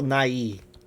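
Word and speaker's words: Nighy: name properly because he his name just sounds like Bill NY but it's Bill Bill Nai voes Amor I'm sure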